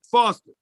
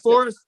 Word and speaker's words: Forest: book to the 80s but foster is that foster forest i'm sorry forest is that forest yeah my mind is